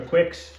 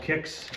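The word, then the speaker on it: Qix: I'm actually making a I called it a Quicks I believe it's called Kicks I don't know I I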